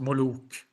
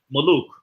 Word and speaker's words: Moluk: By the way, Mos, it's pronounced Moluk. Moluk. Okay, Moluk. With a long U, Yeah. Molu, or long sound after.